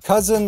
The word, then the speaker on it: cousin: We have cousin like that. That's a short U sound. Kuh, kuh. And compare that to cuisine. Cuisine.